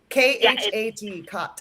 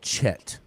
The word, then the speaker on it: khat: And can you spell it? Khat, khat. Yeah, Khat. Okay, Yes. I think I've tried this. I thought it was called Chet.